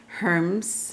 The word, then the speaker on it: Hermes: a plan of communication and in Greek mythology Herms her however people pronounce it h er mes was a messenger